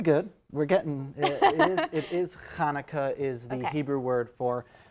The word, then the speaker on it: Hanukkah: the interview, so it's Hanukkah. Pretty good. We're getting, it is Hanukkah is the Hebrew word for, it is hard for many to use that ch.